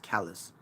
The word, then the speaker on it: Callis: I keep saying Callis every time, by the way. It's actually pronounced Callis.